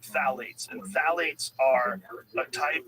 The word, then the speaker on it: phthalates: And when the introduction of phthalates, it starts with a P, P-T-H-A-L-A-T-E-S, I think that's how you spell it. You say phthalates, and phthalates are a